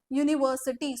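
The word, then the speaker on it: university: समोर article use करणार याच जे प्रोनन्सिएशन आहे याच जे उच्चार आहे ते यत राईट युनिव्हर्सिटी सो य वरून येत म्हणून याच्या समोर काय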